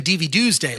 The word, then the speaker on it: DVDuesday: But what I love about it is that nobody pronounces the correct pronunciation has always been DVDuesday, like Tuesday, DVDuesday.